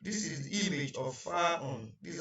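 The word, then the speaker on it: فاء: And in full pronunciation, it is called Fa'un. Please, it is not Faf. Generally, people call it Faf, but it is not Faf. It is Fa'un. And this is the shape, this is the image of Fa'un.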